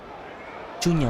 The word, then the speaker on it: Cunha: Matheus Cunha. Cunya, bacanya Cunya.